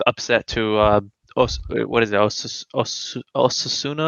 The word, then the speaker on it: Osasuna: Osasuna? How do you Osasuna.